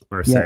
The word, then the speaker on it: Merced: Merced, yeah.